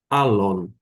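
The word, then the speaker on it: ἄλλον: E eu adoto a pronúncia erasmiana, uma ligeira adaptação, se pronuncia alon.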